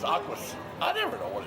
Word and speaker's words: Aqus: I always call it Aqua, but it's Aquas.